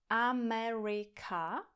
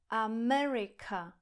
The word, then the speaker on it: America: Proto například tohle slovo v angličtině nevyslovíme jako America, ale America, America, America. Vidíte, že ten první a poslední vokál je zredukovaný. A ten druhý vokál má akcent, je delší a jasnější.